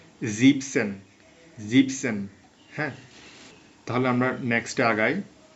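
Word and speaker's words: siebzig: দেখাই এই পরিবর্তনটা হচ্ছে এখানে আমরা সাতের জার্মান শিখেছিলাম জিবেন কিন্তু এখানে আসছে জিপ এনটা বসবে না এটা মনে রাখবেন জিপসন জিপসন্যা তাহলে আমরা নেক্সটে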